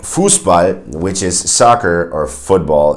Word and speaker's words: Fußball: as an S sound, you'll have the sharp S, which is always pronounced like that. For instance, in words like Fußball, which is soccer or football, if you will.